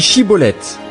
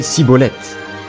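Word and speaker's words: Schibboleth: Il lui disait alors « Eh bien, dis Chiboleth ». Et il disait Siboleth, car il ne pouvait pas bien prononcer.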